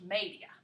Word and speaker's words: media: media looks like media in english but it's pronounced media okay so if you wanted to say 230